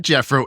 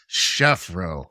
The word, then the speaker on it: Chefro: It's not Jeffro, it's Chefro. Chefro.